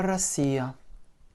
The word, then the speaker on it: Россия: Это Россия. R, O, S, S, I, Я. Avec un accent sur le I et donc le O se prononce comme un A.